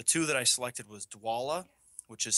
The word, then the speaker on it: Dwolla: working so the two that i selected was dwala which is spelled l d-w-o-l-l-a don't ask me what it stands for i have no idea um but dwala and spark rent and each of their websites